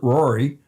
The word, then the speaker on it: Ruairi: He says they pronounce it Rory. Rur- It looks like Ruairi. I don't know, but you know it's Irish Gaelic.